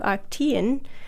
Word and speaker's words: Arctiin: can be broken into arctein, which is spelled Arctiin, and this is one of the active ingredients in the gobo plant. It's also anti-estrogenic, and a study that was shown that arctein, which is a lignin,